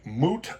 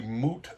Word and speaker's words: moot: Oh, a moot point. It's not a mute point. It's not a point that is silent. M U T. No, it is a moot point.